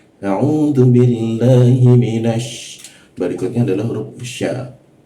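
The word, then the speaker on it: ش: Berikutnya adalah huruf sya. Ini mudah jika kita bisa mengucapkan kata she dalam bahasa Inggris karena posisinya sama. She, sy she, sya. Ketika kita bisa mengucapkan ee kata sya syi dalam bahasa Inggris,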